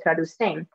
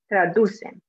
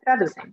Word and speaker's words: traducen: They put the stress at the end and say traducen, but it should be traducen. Okay, traducen.